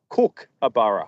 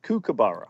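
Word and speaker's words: kookaburra: like you're making your dinner Tom it's a cook abara a cabara oh cabar Julia did you know that I've been mispronouncing it cabar all all Americans say cabara we do indeed it's it's actually a cabara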